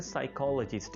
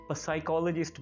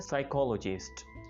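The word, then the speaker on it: psychologist: माहिर नफ्सियात को इंग्लिश में कहा जाता है साइकोलॉजिस्ट, इसमें हमने पी प्रोनाउंस नहीं करना होता, इसको कुछ लोग साइकोलॉजिस्ट बोल रहे होते जो कि काफ़ी फनी और स्ट्रेंज है, लेकिन इसको इंग्लिश में बोला जाता है साइकोलॉजिस्ट।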